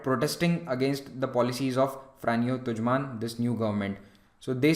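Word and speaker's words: Franjo Tuđman: Croatia and Slovenia during these elections in Croatia frano tujan came to power that is how his name is pronounced frano tujan he was a nationalist Croatian leader he said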